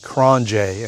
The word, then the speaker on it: QRONGE: The review and operation of the Thunder uh by KronJ. And again, it's pronounced Kronj.